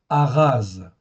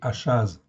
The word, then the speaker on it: Ahaz: Et nous, dans notre école, en fait, il se prononce comme un R, en fait, ici. Donc c'est Ahaz. En français, c'est Achaz.